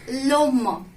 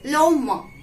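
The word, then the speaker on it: l'homme: will be represent as we will say as loma it's loma we don't have to pronounce h l epistopy h-o-m-m-e don't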